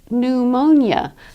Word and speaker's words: pneumonia: It's pneumonia, the disease that you get when, bacteria attack your lungs, for example. Pneumonia, a PN is pronounced only as an N.